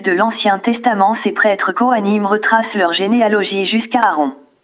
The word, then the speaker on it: Kohanim: L'on prononce Cohen et le pluriel est Kohanim.